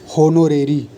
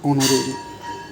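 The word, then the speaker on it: honorary: होनोरेरी, होनोरेरी, इसे वैसे होता है ऑनोरेरी कहते हैं, सही प्रोनाउंसिएशन ऑनोरेरी।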